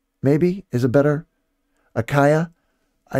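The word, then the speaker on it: Achaia: maybe is it better akaya i i think some people say aka but i think it's a kaya as is a better uh pronunciation the ai should be an i uh kaya um but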